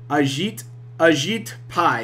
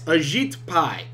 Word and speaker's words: Ajit Pai: Ajit Pai. Is that your freaking name? Is that your fucking name? Ajit Pai. Yes, Ajit Pai.